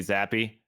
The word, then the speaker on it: Zappe: It's I believe it's pronounced Bailey Zappi.